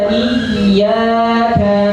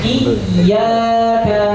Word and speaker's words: iyyaka: Iyyaka na'budu wa iyyaka nasta'in. Silakan. Iyyaka na'budu wa iyyaka nasta'in. Perhatikan di dalam lafaz iyyaka ada tasdidnya. Maka tasdidnya harus ditekan dengan kuat.